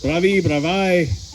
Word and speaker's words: Bravi: Bravi.